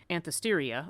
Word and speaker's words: Anthesteria: the, I'm never going to say this right, Anthesteria, okay, I did say it right.